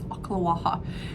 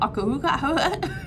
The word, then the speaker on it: Ocala: It's Ocala. Everybody always asks about it. There's like the Ocala. Sounds like they're coughing something up.